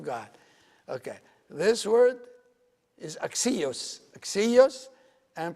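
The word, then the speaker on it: ἀξίως: This word here, this is pronounced axios.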